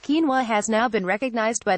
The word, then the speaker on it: quinoa: used in place of rice the whole grain pronounced quinoa has now been recognized by the United Nations